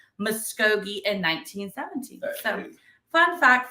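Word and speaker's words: Muskogee: say it right this time it was in Mogi there you go in 1917 so the very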